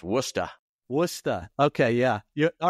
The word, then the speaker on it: Worcester: And if you're from Massachusetts, it's pronounced Worcester.